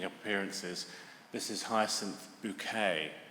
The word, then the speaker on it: Bucket: This is Hyacinth Bouquet. It's spelt bucket, but she pronounces it bouquet, because she's got pretensions to be, sort of upper middle class, but she really isn't.